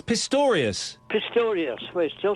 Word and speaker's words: Pistorius: Pistario. Yeah, you Pistario. It's Pistorius.